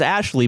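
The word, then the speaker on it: Ashliegh: Ashley, spelled A S H L I E G H, pronounced as Ashley before her husband stopped her.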